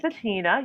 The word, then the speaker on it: Bettinna: us all about you yes my name is matina you got it correct it's spelled as b e double c i double